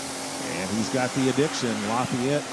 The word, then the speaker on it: Lafayette: Lafayette, Tennessee or Lafette, Tennessee is how they pronounce it there.